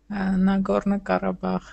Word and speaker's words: Nagorno-Karabakh: How do you pronounce that? Say that again. Nagorno-Karabakh.